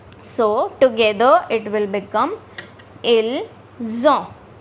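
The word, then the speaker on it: ils ont: IL is pronounced as ill, but we will take this S and this O, which will become zo, right?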